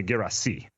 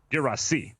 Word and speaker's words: Guirassy: I mean, to be honest, soccer pronunciations get fuzzy, but most commonly Guirassy. He was born in France. He's from Guinea, where French is the language. So Guirassy.